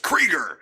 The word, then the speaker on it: Krueger: He's just like, it's pronounced Krieger. God It's damn it. German. It's Krieger. It's Krieger.